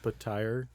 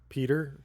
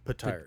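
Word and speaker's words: Petyr: It's actually pronounced Patire. Yeah. Oh, I've been pronouncing it Peter this whole time.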